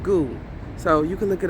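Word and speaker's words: Ngu: And it's pronounced goo.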